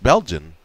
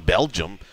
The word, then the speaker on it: Belgian: It's just Belgian. I don't know why I kept saying Belgium. It's Belgian, like when you order Belgian waffles.